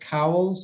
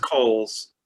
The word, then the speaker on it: Coles: Any questions of, is it pronounced Cowles? Is that how you It's pronounced Coles.